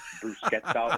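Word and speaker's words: bruschetta: my thing food and you're saying brusett instead of brusa or BR brusa is fine I mean you don't have to have the Italian pronunciation I get it right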